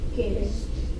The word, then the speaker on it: gist: Gist. A G before an I makes the soft sound, so that's gist.